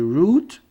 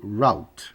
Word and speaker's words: route: Você pode dizer route ou route.